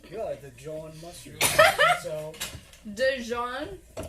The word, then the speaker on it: Dijon: Dijon? Like there's a D there? Yeah, I'm pronouncing it right, it's a right? silent Yes, D, you are. right? Right, thank you. Jean mustard. It's a silent D.